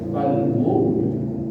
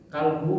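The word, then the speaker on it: قلب: Qalbu pakai qaf. Yang kita salah membaca qalbu nih, kita baca kaf. Ada huruf hijaiyah itu ada kaf, ada qaf. Lamunnya kita membacanya qalbu, maka maknanya jantung dan bisa juga maknanya hati. Tetapi amun kita baca kalbu pada qalbu, maka maknanya kalau kalbu itu artinya anjing.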